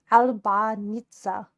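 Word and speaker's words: Albinița: It's called uh Albinita. That's an accent pronounced Albanita.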